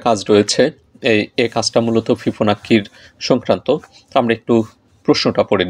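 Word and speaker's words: Fibonacci: এই ধরনের সংখ্যাগুলোকে বলা হয় হচ্ছে, যদিও অষ্টম শ্রেণীর বইতে ফিবোনাক্কি বলা হয়েছে, আর বেশ কিছু গণিত বইতে এটা ফিবোনাচ্চি এভাবে উচ্চারণ করা হয়েছে।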